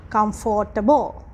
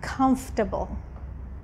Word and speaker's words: comfortable: the next word which when you read it it's like comfortable right but when you speak comfortable comfortable so you just have a sound yeah comfortable right